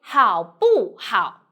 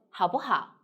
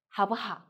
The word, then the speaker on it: 好不好: If you directly say 好不好, it's okay, but here's very strange, not comfortable. So we say 好不好, 好不好, 走不走, 去不去.